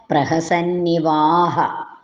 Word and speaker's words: പ്രഹസന്നിവാഹ: ആഹ പ്രഹസൻ ഇവ ആഹാ അതാണ് പ്രഹസന്നിവാ കഴിഞ്ഞ രണ്ട് ഹൈഫൺ ചിഹ്നം ഇട്ടിട്ടുണ്ട് ആ എന്ന ഉച്ചാരണം അവിടെ വരണം ചൊല്ലുമ്പോഴും വ്യാസേന പൃഷ്ഠ പ്രഹസന്നിവാഹ ഈ പദങ്ങളുടെ എല്ലാം അന്വയാർത്ഥം